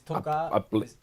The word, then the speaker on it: toca: It's like the accent is on the first syllable, not the second.